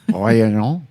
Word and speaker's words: Réunion: Réunion. bitch. Just see, you pronounce it like you're not actually having different syllables.